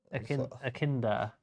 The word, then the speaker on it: echidna: I have no idea how to pronounce that. Akinda.